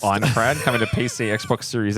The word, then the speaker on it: Aincrad: Aincrad, I believe it's pronounced. Aincrad coming to PC, Xbox Series X, and PlayStation 5 on the 10th of July.